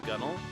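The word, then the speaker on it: gunwale: Like gun whale is pronounced gunnel.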